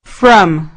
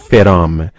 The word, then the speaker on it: from: From. دقت کنید که بنای تلفظ این کلمه نگویید فرام. باید بگویید from، یعنی حرف F و R باید به صورت سریع و بدون فاصله بیان شوند.